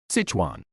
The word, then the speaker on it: Sichuan: How do you pronounce this word, please? Sichuan.